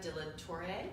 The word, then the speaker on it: de la Torre: We're here with Dr. Sarah de la Torre, is how you pronounce it, who's one of the founders.